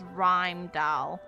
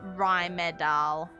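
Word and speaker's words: Rimedahl: doll too i hear how it's pronounced as rhyme doll not rhymed out a rumidel considering there's an e in there and it's silent uh a while back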